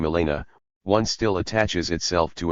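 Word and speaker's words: Milena: this sort of exercise Melena with an accent on the I Begins by evoking a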